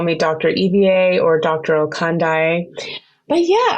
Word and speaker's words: Ivie: my name but no it's spelled IV i e but pronounced Eva okay so um my patients they call me Dr Eva or Dr oi but